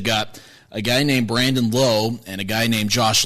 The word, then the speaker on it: Lowe: a guy named Brandon Lowe and a guy named Josh Lau. They pronounce their last names differently, even though they're spelled the exact same. One's Lowe and one's Lau.